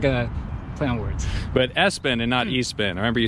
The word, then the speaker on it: Espin: quite a bit yeah so not a spin which I can see a lot of people have in that confusion since it's an e-bike so Espen is the correct way to say it now the rain bike